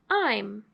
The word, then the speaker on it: -ime: like we said earlier this ending has be long I so I the long I makes the e the magic e where it is silent so you don't hear the e so that's why this ending is pronounced I'm now I want you